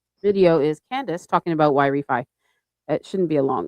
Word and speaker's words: Yrefy: It's supposed to be Y-Refinance, like something like that.